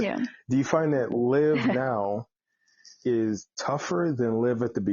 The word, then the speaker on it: Liv: Now, handling rejections and getting to where you are now, do you find that Liv today, and I'm saying it right, it's Liv, not Live, right?